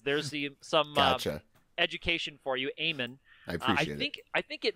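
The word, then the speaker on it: Eamon: of Ireland versus France this one is from aan that's an Irish name e a m o n for you Bob so there's there's some education for you aan I think I think it might be the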